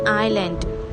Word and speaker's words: island: what is this this is an island I s L a and D S is silent here Island Island means a